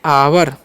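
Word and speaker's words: hour: सकते हैं य है तो हावर नहीं इसे हम लोग पढ़ते हैं आवर क्या पढ़ते हैं ठीक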